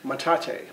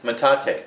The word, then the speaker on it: metate: Metate. Metate. So Metate. Who named it Metate, I wonder? That's a Spanish word.